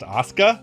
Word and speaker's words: Asuka: yes I know that in the real world it's pronounced Asuka however I'm pronouncing it how they pronounce it in the game the worst sin that